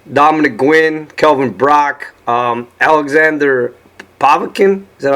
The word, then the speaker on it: Povetkin: But you've been in the ring with Derek Rossi twice, Dominic Gwynn, Kelvin Brock, Alexander Povetkin, is that how you say his name?